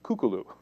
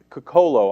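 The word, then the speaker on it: Cucolo: First, yesterday we reported a story about General Kukulu. Honestly, Kukolo, I believe, is the right way to pronounce it. Anna had said Kukulu.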